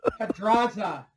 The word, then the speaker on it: Pedraza: You got to roll your R.